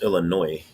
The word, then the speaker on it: Illinois: coventry said it's illinois pronounce illinois we leave out the ios or just the s there's a springfield in